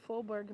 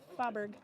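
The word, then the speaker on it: Fåberg: Because Faubourg is F-A with a circle over it, B-E-R-G. But if you don't do so the A with a circle over it sounds like O, like the Minnesota O. But if you try to pronounce it with an English dialect, it would be Faubourg.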